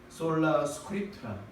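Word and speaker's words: sola scriptura: 여기 보면 그냥 우리 영어식 발음 말고 그냥 우리가 아는 대로 읽어보면 되는 건데요. 라틴어입니다만 솔라 스크립투라, 이건 무슨 말이냐면 오직 성서로만.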